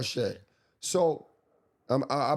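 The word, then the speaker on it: Shead: Jamal Sheet from um is it Shed or Sheet? Shed. Uncle Shed. Yeah, it's Jamal Shed.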